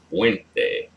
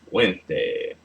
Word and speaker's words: fuente: La fuente. Fuente. Oh, fuente. The stress is on the second to last syllable.